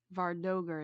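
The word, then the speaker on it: vardøger: the other yeah but those guys are uh vardoger vardoger is how it's pronounced apparently I looked it up but you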